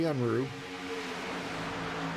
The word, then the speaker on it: Unruh: Jesse Unruh on the high side. That's what he said it's pronounced. Jesse Unruh.